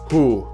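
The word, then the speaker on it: hoe: the Netherlands and Flanders I know it's written ho but it's pronounced who as well the French version of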